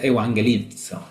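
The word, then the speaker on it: εὐαγγελίζω: Evangelizo se pronuncia. Se escribe distinto, pero se pronuncia evangelizo.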